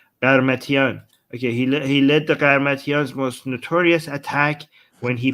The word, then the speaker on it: Qarmatians: Once inside the city walls, the Qarmatians, is that how you say it again? Yes. Qarmatians The Garmatian's army set about